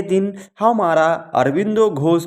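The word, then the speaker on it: Aurobindo: बांग्ला भाषा में हम इनके नाम को अरविंदो प्रोनाउंसिएट करते हैं, इसलिए ही हम हिंदी भाषी इनको अरविंद घोष कहते हैं, जबकि बांग्ला भाषा में इन्हें अरविंदो घोष कहा जाता है।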